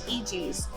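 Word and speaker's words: Eegee's: If you're wondering how to pronounce this, it's EGs.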